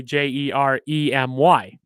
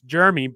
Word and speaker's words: Jermey: you're pronouncing it it's germy but i say it as jeremy just because that's how it's pronounced with the regular spelling but yeah you can